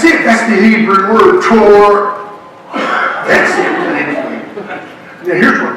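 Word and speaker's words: תּוֹרָה: And the word is spelled in the Hebrew, the word form is spelled T-O-A-R. But the A-R is like, you say? Torah.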